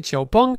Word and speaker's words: XPeng: Écrit XP mais prononcé Chiaong, c'est l'une des marques les plus sérieuses.